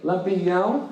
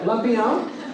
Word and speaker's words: Lampião: I don't know if you can pronounce that tilde over the A. Lampião. And you gotta say it like you're very rich. Like Lampião.